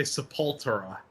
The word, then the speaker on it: Sepultura: So How are you supposed to pronounce it? Sepultura. Oh, yeah. So that's how. Or if you're like extra Brazilian, sepultura. Yeah. If you're Or extra Portuguese.